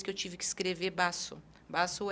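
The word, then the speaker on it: vaso: do espanhol né é o v em espanhol ele tem um som de B mas não é um B forte eu não vou falar Basso eu falo Basso é suave E aí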